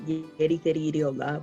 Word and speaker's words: Jareth Harrie Eerie Hola: Yes, my name is, well, I pronounce it Jareth Harrie Eerie Hola, but people don't pronounce it that way, right? Because it's kind of with like this Latin accent.